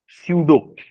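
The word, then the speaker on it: pseudo: show force क्या है एक तो स्पेलिंग देखो हम बोल रहे डो लेकिन स्पेलिंग है पी एस ई यू डी ओ सूडो क्या होता है कुछ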